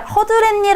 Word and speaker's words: 허드렛일: 우리 발음할 때 곰곰히라고 하지 않고 곰곰이라고 하죠. 그래서 이가 맞습니다. 자, 허드렛일 할 때 우리 허드레, 허드레라고 하죠.